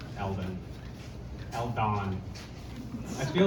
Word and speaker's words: Eldon: Because I say it like l den like you know someone